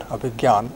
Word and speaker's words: Abhigyan: But for our purposes, I think GY would be as good, because this is how we pronounce the word in our daily conversation.